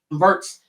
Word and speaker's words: Wirtz: Wirtz, how do you pronounce his last name? Wirtz.